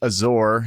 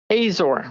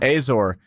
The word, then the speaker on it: Azor: last name was uh I believe it's pronounced Azure is that right Azor Azor so my my mother uh